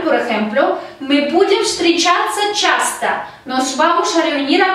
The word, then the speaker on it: часто: Часто. La última letra O no está acentuada, por lo tanto se pronuncia como A.